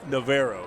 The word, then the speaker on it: Navarro: of clear lake also navarro junior college i believe it's naverro is how they say it i believe you're right